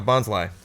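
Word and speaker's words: Bonsly: little little plant type I'm guessing bons bons so it rhymes with Bonsai oh there we go bons Li um I was goingon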